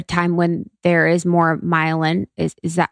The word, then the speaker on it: myelin: talk about a time when there is more myelin, is that how do you say it? Myelin. Yeah. Myelin.